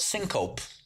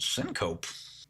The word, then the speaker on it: syncope: Like, for example, one of the first things I circled was a strange word called syncope. That's how I pronounced it.